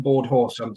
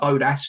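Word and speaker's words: Bodås: tried our whiskey, is the Board Horse, like pronounced Board Horse, but it looks like Bodas to a simple Englishman who can't speak foreign languages very well, as I can't.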